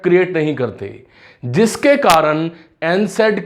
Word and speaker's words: NSAID: काफ़ी बच्चे मैंने अपने टीचिंग एक्सपीरियंस में देखा है वो जो है इसको नसैड बोल देते हैं, गलत प्रोनाउंस कर देते हैं। दिस इज कॉल्ड एनसेड ड्रग्स, एनसेड, ठीक है, एनसेड इसको बोला जाता है।